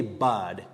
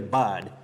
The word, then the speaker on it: bud: should know here is we also say bad nipped in the bird not nipped in the board so letter u takes